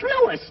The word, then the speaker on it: Louis: Lois. Lois. Me name is Louis, not Lois.